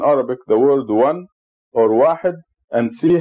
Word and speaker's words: واحد: It is pronounced Wahid. Wahid. And at the time of revelation of Quran, there were no numbers as we know them today.